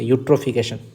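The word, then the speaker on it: eutrophication: ई silent होता है, पढ़ेंगे यू से, यूट्रोफिकेशन।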